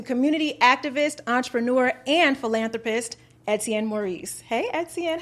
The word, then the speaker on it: Etienne Maurice: I'm speaking to community activist, entrepreneur, and philanthropist, Etienne Maurice.